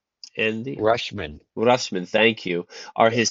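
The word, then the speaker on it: Rutschman: Dingler and Rashman, how do you pronounce his name? Andy Rushman.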